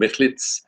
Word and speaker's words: Michlic: Joanna Michlic is, the C is pronounced like a Sadi at the end. Michlic is from Łódź, and she grew up in Łódź.